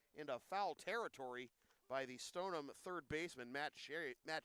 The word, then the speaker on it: Stoneham: Dyan Walsh for example any town that ends in ham stonum walam Stoneham walam Wenham it goes on it